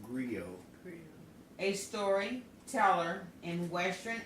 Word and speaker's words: griot: agree agree oh well grr OT but is pronounced grill a story teller in